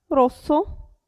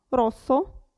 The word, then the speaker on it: rosso: una s casa presa però se abbiamo doppia s allora si pronuncia rosso rosso e qui provate da